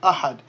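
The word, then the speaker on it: أحد: are pronounced, because remember, we drop the ending pronunciation when we stop on a word. Just like in the surah, in Surah Al-Ikhlas, you say Qul huwallahu ahad.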